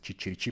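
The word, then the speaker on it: chicchirichì: habló italiano y y Aparentemente es chichirichi pero no en italiano la ch antes de una I latina se pronuncia como una K entonces aquí sería igual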